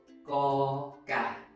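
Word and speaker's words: ก ไก่: So, for the rest of the Thai consonants we will be practicing, remember, you must read the 2 parts together when pronouncing the consonant. For example, ko gai, ko gai.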